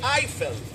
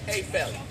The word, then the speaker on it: Eiffel: We say Eiffel. In France, they pronounce it the French way. A fel.